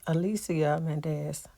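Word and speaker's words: Alicia Menendez: Her name is pronounced Alicia Mendez.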